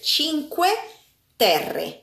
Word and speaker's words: Cinque Terre: Yeah, because the place it's called Cinque Terre.